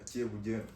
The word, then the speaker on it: Ceebu Jën: It is Ceebu Jën. Ceebu Jën. That's how you say it in your language.